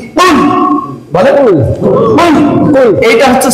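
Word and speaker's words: قُلْ: যুক্ত যেটা এটাকে বলে এই কফ যে উচ্চারণ এটা হচ্ছে সহি কুল বলেন কুল কুল এইটা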